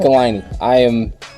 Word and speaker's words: Michelinie: Well, Jim Shooter used to write it rhymes with pickle my knee. Yeah. So David Michelinie.